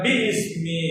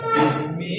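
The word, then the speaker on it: بسم: ഹംസത്തുൽ വസൂൽ എന്ന് പറയുന്നത് ബിസ്മി എന്ന് എഴുതുമ്പോൾ ബി പ്ലസ് ഇസ്മ് എന്നതിന്റെ ഇസ്മിന്റെ ആദ്യത്തെ ഹംസ ഹംസത്തുൽ വസൂൽ അതുകൊണ്ടാണ് ബി ഇസ്മി എന്ന് പറയാതെ ബിസ്മി എന്ന് പറയുന്നത് അതേപോലെ തന്നെ ഒരുപാടുണ്ട് അൽഹംദുലില്ലാഹ്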